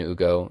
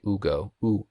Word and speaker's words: Ugo: of dog she is he's out h and hugo i've had a number of people call him